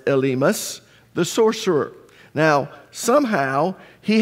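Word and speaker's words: Elymas: was also called elus now in English we pronounce it elmus but in Greek it's not it's elus the sorcerer now somehow he had become an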